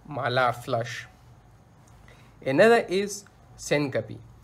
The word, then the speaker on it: syncope: Another is syncope. Syncope, or some doctor pronounce it as syncope, it is the temporary